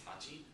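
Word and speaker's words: 八: It's hachi, so it's important to know. That's 8. Q is 9. It looks... Q also pronounces, this one also can have the pronunciation of ku.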